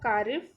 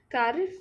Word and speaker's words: Kharif: only if we spoke cardiff as in winter season we spoke cardiff in winter in rainy sorry i miss i have mispronounced kharif we see it in